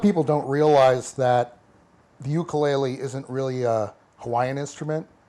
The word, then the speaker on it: ukulele: the uh I'll use the correct Hawaiian uh pronunciation ukulele ukulele is what they they call it yes